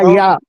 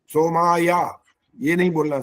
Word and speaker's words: सोमाय: अच्छा, हाँ तो सोमाय बोल तो हाँ, दिया। सोमाय, सोमाया, ये नहीं बोलना, सोमाय। सोमाया ये।